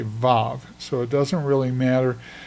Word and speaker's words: vav: You can choose to pronounce it as wow, which is what biblical uh Hebrew scholars pronounce it. They pronounce it wow. W A W. But in modern day Hebrew, it's called a vav. So, it has a v sound rather than the w sound.